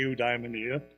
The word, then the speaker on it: eudaimonia: wake for us to talk about a eudaimonia as she told me that was the proper pronunciation and I'd like to